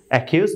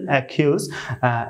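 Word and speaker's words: accuse: হবে ক এর মতো সি সি এর উচ্চারণ হবে ক এর মতো তো সেই সুবাদে এখানে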